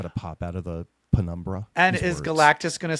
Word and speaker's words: penumbra: Didn't they the What's penumbra? the- Didn't they Plemuraba?